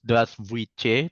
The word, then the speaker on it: здравствуйте: Ini juga sekedar reminder juga, meskipun tulisannya Здравствуйте, tapi bacanya Здравствуйте. Jadi agak kayak I gitu.